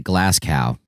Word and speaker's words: Glasgow: Gawain bertolak or Brussels I pronounce it glass cow and um he explicitly